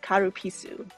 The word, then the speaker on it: Calpis: The Kalapisu of water is very refreshing. It's an uncarbonated Japanese soft drink, and in Japanese it's pronounced Karupisu.